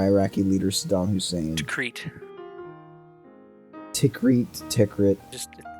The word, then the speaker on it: Tikrit: Tikrit. Just it's pronounced Tikrit.